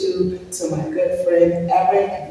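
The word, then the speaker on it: Erik: And I want to introduce you to my good friend Eric. You said Eric with a K, like Artz with a Z.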